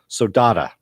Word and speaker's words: saudade: I'm your host, and this is Deadly Class, Season 1, Episode 5, Saudade is how it's pronounced.